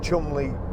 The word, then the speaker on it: Cholmondeley: I was lucky enough, again, Ford invited me to, well, it's spelt Cholmondeley, but I think it's Cholmondeley Castle, and they invited me there to drive the new Ford Fiesta when it came out.